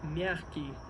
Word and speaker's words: мягкий: Мягкий знак. One more time. Мягкий знак. The accent of the first word in the name of this letter, мягкий, is the accent of the first syllable.